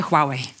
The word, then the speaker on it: Huawei: Huawei, czy dobrze powiedziałem? Tak, to się nauczyliśmy, proszę państwa. Hua jak Huasko, Wei jak droga po angielsku, tak się wymawia naszą markę Huawei.